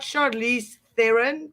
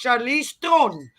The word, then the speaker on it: Charlize Theron: And it's and for the record, it's not Charlize Theron. It's Charlize Theron. That's a South African name. That's how you pronounce it.